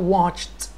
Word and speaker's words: watched: عندي كلمة watch or verb watch، watch يعني يشاهد، الماضي بتاعه watched، watched. لاحظ نطق الـ ed تتنطق ت، ت sound.